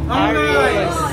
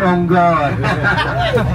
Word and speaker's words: unggoy: Ongy. Thank you sir. You unggoy so close ha. You see ha you say monkey unggoy ha.